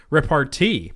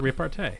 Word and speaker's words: repartee: And I noticed that the way you spell it is with an E and an E at the end, so it looks like repartee, but you pronounce it repartee.